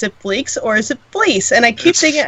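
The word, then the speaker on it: Fleecs: Ladies and gentlemen, please welcome aboard Tony Fleeks. Hey everybody, how's it going? Going well. It's Fleece, actually. The C is a soft C.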